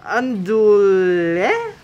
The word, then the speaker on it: andouille: It's andouille. Andouille? I don't know. It's pronounced andouille.